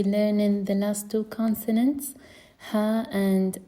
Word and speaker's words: ه: So the first one is ha, ha, ha, ha. And the other one is al-hamza, and we pronounce it a, a, a.